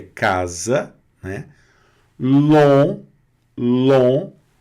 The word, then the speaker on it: long: Long, long. Não pronuncia esse G aqui, repete. Long. Muito bem, G mudo, ele não aparece, tá? E o ON aqui, bem nasalado, long, que é longo, tá certo?